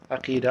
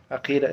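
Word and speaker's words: عقيدة: فاليوم today inshallah we'll do episode 2 of Aqeedah, understanding the term Aqeedah.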